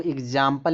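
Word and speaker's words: example: फिर कह रहा है x से जो उच्चारण जो x का जो आधा ग और ज भी निकलता है। जैसे जैसे [नाक से की जाने वाली आवाज़] आपको अगर बोलना है। यहां देखो एग्जांपल में देखो एग्जांपल। ठीक? ठीक है? यहां देखो एक्स उच्चारण आधा ग और ज निकल आ रहा है।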